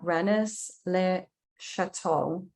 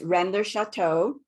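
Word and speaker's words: Rennes-le-Château: landscape venus temple at renis le chateau nearby in renis lay bain am i pronouncing that right sophia no but it's okay please correct it so it's render chateau and renlai ba brendaban okay yeah i have absolutely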